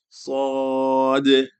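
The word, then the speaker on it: صاد: When it comes to sa, there's two things to keep in mind. One is the pronunciation of the sa, and one is the pronunciation of the dal at the end. Sad, because it's technically qalqala, right? Sad, or you can linger on the sound.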